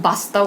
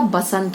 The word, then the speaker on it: बसंत: व और ब की भी अशुद्धियां होती है, जैसे बहुत लोग वास्तव कहते हैं, वास्तव नहीं होता, क्या होता है, वास्तव। पूरब, पूरब नहीं होता, पूर्व होता है। वसंत नहीं होता, बसंत होता है।